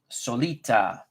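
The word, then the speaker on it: Solaita: Solita. I'm actually going to put it phonetically as you did.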